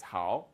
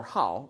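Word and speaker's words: 好: It's how right or how, right? It's two pronunciations possible.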